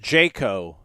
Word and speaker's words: Jocko: baby Jacko is pronounced Jayco as in Jackson County he's from Marianna hilarious